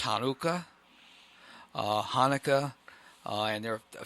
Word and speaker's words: Hanukkah: And it is pronounced in the Hebrew as Chanukah. Okay, because I have heard it pronounced that way. Right, but it is pronounced now as Hanukkah, and more the stress is on the other part of the word.